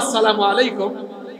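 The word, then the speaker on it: السلام عليكم: সালাম নিয়ে টিটকারি মারতো সালাম হল আসসালামু আলাইকুম কিন্তু ইহুদিরা মাঝখান থেকে লাম ফেলে দিয়েছে। মাঝখান থেকে লামকে আচ্ছা আসসালা এর লাম ঢেলে দিলে থাকে কি? আসা হয়। আসসালামু আলাইকুম না বলে একটু দ্রুত বলে ফেলত যেন বুঝা না যায়।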